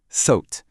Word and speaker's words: thought: Ici, le OU se prononce comme un O long et ouvert, un peu comme thought. Le G, complètement muet, il est juste là pour la déco. Écoutez, thought.